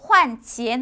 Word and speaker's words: 换钱: 그래서 换钱 하게 되면 돈을 환전하다라는 의미가 되겠습니다.